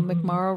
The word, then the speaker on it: McMorrow: Well, McMorrow rhymes with tomorrow.